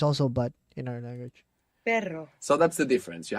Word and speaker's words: perro: So initial R or two R's together inside the word is going to pronounce this double R. So the word for but in Spanish is pero. Pero. P-E-R-O. And the word for dog is perro.